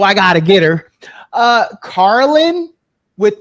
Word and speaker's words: Carlynn: So it's called Carlynn instead. But of course, people commonly mispronounce my name, and instead they'll say Carolyn.